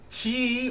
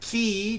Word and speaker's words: chi: cells last night man Chi or key depending on how you want to pronounce that uh is uh body